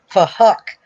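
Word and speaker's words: Phuc: he was Asian, and his name was Fuck, but it was spelled with a PH, so they were pronouncing it Fuck.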